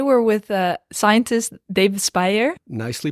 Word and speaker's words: Speijer: and today we're with uh scientist daavid Spire nicely pronounced perfect Spire is a science scientist lecture